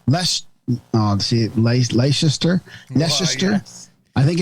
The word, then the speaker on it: Leicester: Just pronounce it like it's like Uncle Fester. Yeah. With an L.